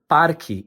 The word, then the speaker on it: parque: The correct pronunciation is once again parki. However, pronunciation can vary depending on the region.